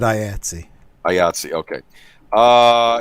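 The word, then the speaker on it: IATSE: member high with that yeah they pronounce it i etsy i yeah see okay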